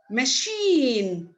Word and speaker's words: machine: okay c is e i sees e i but it is pronounced e machine she okay only the letter